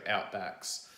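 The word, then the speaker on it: Outbax: So for people elsewhere, this may not be relevant, but it's spelled O-U-T-B-A-X, so Outbacks.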